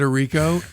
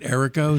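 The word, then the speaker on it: Errico: you know what's funny i always called it a rico and the last few days you've been pronouncing it erico so i just switched as i said i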